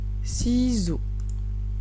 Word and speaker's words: ciseaux: Où est-ce que j'entends le son X? Dans si ou dans zo? Eh bien, je ne l'entends pas. Voici les sons qu'il fallait mettre. Première syllabe, si. Si. Et dans la dernière, zo. Z, o. J'entends 2 sons dans chaque syllabe. À aucun moment, je n'entends le X.